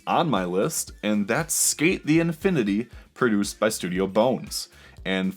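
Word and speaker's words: SK8 the Infinity: And for the record, it's abbreviated as SK Infinity Sign. So, yeah, trying to be really cool here. And like when it's spelled out, it's SK8 rather than skate.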